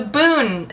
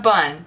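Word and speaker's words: Bún: how to pronounce roughly Boon ah ah I will take the veret Boon please it's a boon not a bun but it's spelled b u n when it's not in Vietnamese Boon it's a boon okay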